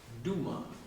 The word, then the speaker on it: Dumas: used his mother's name Duma d-a-m-a-s the S is silent Alex Duma and he